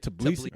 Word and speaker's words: Tbilisi: I didn't How do you say it? Tbilisi. All right, Tbilisi. Dude, I don't know. That may be the Americanized version, but that's what my uncle says, and his name is Anzor Ladze.